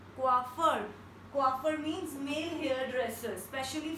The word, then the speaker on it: coiffeur: Next word is coiffeur and we pronounce it like coiffeur. I repeat it once again, coiffeur, coiffeur.